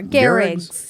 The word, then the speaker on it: Gehrig: Lou Gehrig's? Sure, Gehrig's.